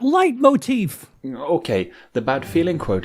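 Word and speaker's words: leitmotif: Uh it sounds like light motif but it's light like pronounced a little bit different.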